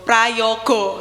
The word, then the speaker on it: Prajogo: Kak Mira prajogo praj Prayogo ya bacanya tulisannya prajogo bacanya Prayogo nah Kak Mira Itu